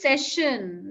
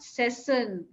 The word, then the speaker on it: session: Rakesh, one thing, most of your pronunciations do not have sh. All right, it is a major issue. Like I spoke to you for a while, so it is session, not session.